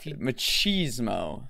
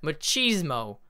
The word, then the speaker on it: machismo: machismo which is a machismo machismo like pronounced with cheese in the middle yes like like the